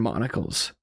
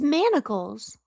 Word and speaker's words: manacles: Held in place by rusted iron monles. Carthena flinched back into monles. I said monles, right? It's manacles. Monacles are like the one eyeglass that's spelled M O N O C L E S.